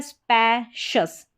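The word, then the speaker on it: spacious: फिर यहाँ पर है स्पैशस, SPA को स्पै पढ़ा, और जैसे ये कॉम्बिनेशन भी मैंने बताया CIOUS, इसको नोट कर सकते हैं, इसको शियस नहीं शस करके प्रोनाउंस करें, एकदम करेक्ट प्रोनाउंसिएशन है।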